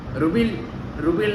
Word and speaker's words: REBEL: ஐயோ ருபில் தான் படம் பேர், ஓகேவா? ரூபெல் தான் படம் பேர். ருபில்னு எனக்கு நான் அப்படி ப்ரொனவுன்ஸ் பண்ணுறேன்.